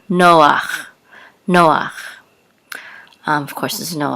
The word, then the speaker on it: Noach: do this if the if the head is at the end of the word and there's a pata underneath it'll always bring be pronounces ah even though it looks kind of like huh okay so this is a noon with a Harlem so you will say no and this is that ah Noah Noah of course there's